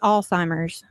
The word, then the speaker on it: Alzheimer's: So, uh two two big things that we want to talk about is Am I pronouncing it correctly, Alzheimer's? Is that how you say it? It's Alzheimer's.